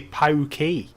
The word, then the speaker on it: PAOK: Some people spell it out as the letters, whereas other people say PAOK. Or PAK Thessaloniki. I've heard PAK used by Greek people.